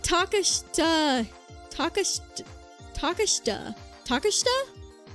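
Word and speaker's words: Takeshita: Um, oh, by the way, you don't pronounce the I. Oh, taka. Oh gosh, how do you say that? Think of it like Tasha. Tash Tashta Tashta. Tashta treata street.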